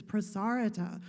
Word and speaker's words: Prasarita: professionalize the yoga instructors some instructors say prasarita is one of the poses but it doesn't rhyme with marguerita it's prasarita tanasana and some instructors say